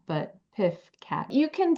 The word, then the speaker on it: PFCAT: PIFF CAT. PIFF CAT. Not PF CAT, not PUFF CAT, but PIFF CAT.